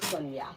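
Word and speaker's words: Sagna: This is the way it's written, but it's pronounced Guy Marius Sonia.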